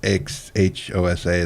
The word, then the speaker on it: Xhosa: The Xhosa is how you say their name, and the X is supposed to be a click.